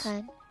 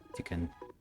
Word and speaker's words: Tikkun: Was it Divine Kun? Tiqqun. Oh, So I'm pronouncing that Divine as Kun. Tikkun. Not that weeb shit.